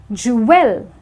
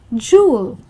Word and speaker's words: jewel: W in a word, it's very easy to pronounce this word as jewel because of the W sound, but it's actually jewel. That is jewel, and this is exactly how the word is pronounced.